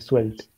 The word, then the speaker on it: Svelte: How do you spell that again, though? Svelte, Svelte.